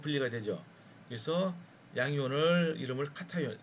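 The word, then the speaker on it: cation: 그래서 양이온을 이름을 카타이온. 여러분 이거 케이션이라고 발음하면 안 됩니다. 절대로 카타이온이에요.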